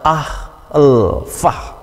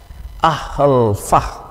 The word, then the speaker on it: alpha: untuk huruf yang pertama Alfa di sini memang pengucapannya adalah ahlfah ahlfah gitu tetapi kita tidak harus mengikuti pengucapan atau bunyi seperti yang ada pada kolom ini karena ini adalah pengucapan atau bunyi Yang disuarakan dengan lidah orang yang berbahasa Inggris gitu jadi untuk orang yang